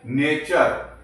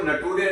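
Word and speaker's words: nature: दोस्तों नेक्स्ट वाला जो रूल है जब किसी वर्ड के लास्ट में यू आर ई आए तो यू आर ई को अर से पढ़ेंगे। ओके? इसके लिए मैंने एग्जांपल लिए है दोस्तों। एन ए टी यू आर E. Okay? इसको हम क्या पढ़ते हैं? नेचर। इसको नटूरे नहीं कहते हैं।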